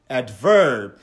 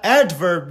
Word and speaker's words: adverb: دا چې په دویم سلیبل باندې تاکید وکړي adverb یا به دا adverb وی یا به adverb وی چې کوم صحیح ده ته دا اول